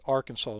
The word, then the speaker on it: Arkansas: So, the Confederates celebrate the succession of Arkansas. And that is the pronounce correct that is the correct spelling with the correct pronunciation. It Arkansas named after the Arkansas uh tribes.